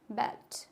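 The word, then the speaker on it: ballet: टी is also silent in द लॉट of French lawn words such as बेल्ट, क्या होता है? बैलेट, ग्रामेट, rapport, racket, क्या हो जाएगा?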